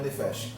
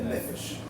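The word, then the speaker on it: נֶפֶשׁ: Então, nesse verso específico, por uma questão de fonética hebraica, a pronúncia correta não é nefesh, é nefesh.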